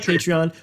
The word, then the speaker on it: Patreon: We are thinking about Patreon. We're working on. I can't say it. Someone else pronounce it. I'm too stupid. You I did call it it right. Patron.